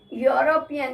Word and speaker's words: European: European, here it is spelling is with vowel, but the sound is Y.